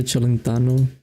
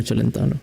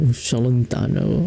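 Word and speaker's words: Celentano: Do you know Adriano Chelano? Oh, I said it so stupidly. Adriano Chelentano. There we go. That sounds fair. Adriano Chalentano. I've heard people say it like that.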